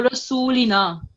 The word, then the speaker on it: Rasulina: So A5149, make sure that you pronounce the lam and the noon with same time. So noon has fatha, the lam has kasra. They both have 1 second rule. So Rasulina.